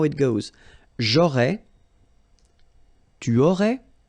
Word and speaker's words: aurais: J'aurais, so final S, not pronounced. J'aurais. Then same thing here, tu aurais, you don't pronounce the final S.